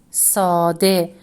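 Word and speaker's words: ساده: The next word is sade, which means simple. Again, here letter he takes the final isolated form. It sounds e and hasn't joined the letter B for it, which is letter dal.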